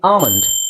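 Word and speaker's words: almond: okay now let's see ಆಮಂಡ್ first word ಆಮಂಡ್ okay so ಇಲ್ಲಿ ಆ ಅಂತ ಇದೆ ಸೋ ಆಮಂಡ್ ನಾನು ಕನ್ನಡದಲ್ಲಿ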